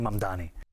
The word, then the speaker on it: Mamdani: Zohran Kwame Mamdani.